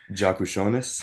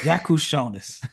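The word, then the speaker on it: Jakučionis: teammate at Illinois casparis how I let you pronounce the last name jaku shones jaku shones how say jaku Sionis now i' saw I've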